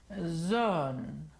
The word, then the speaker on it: zone: Zone, comparado con zona, zone.